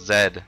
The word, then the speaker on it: Zed: air and then hold Zed, watch Kazooie spin and drill with her head. See? It's pronounced Zed, not Z, because he rhymed Zed with head.